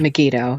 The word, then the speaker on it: Megiddo: don't know how to say it is it megiddo is that megiddo yes okay is is is this something that